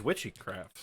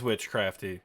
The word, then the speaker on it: Witchcrafty: I thought it was Witchycraft. I got a card. It said Witchcrafty. We've been saying it wrong this whole time. Oh, it is Witchcrafty.